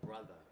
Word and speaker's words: Brutha: But they're right now, they're called Brother, and they're signed to Def Jam, and it's spelled Brutha.